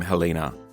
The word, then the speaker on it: Helena: And as we pick up the conversation with Declan, we begin with a chat about how to pronounce your name, Helina.